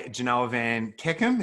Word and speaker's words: Janoah Van Kekem: We're joined by Janoah Van Kekem. Is that how you pronounce that, mate? Mate, you've done all right.